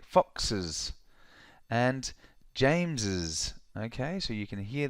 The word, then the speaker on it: James's: do we pronounce it so in this case s equals is that is James's house okay look at